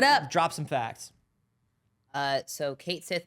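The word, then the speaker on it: Cait Sith: But the name is from Celtic mythology, but cat is Kate Sith. I got some facts for y'all. What up? Drop some facts. So Kate Sith means fairy cat in Scottish Gaelic and is pronounced Cotshi, a fairy creature from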